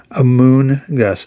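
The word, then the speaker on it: Amoonguss: Is it pronounced Amoongus or Among Us? Amoongus. I would say moon because that's actually moon. M O O N.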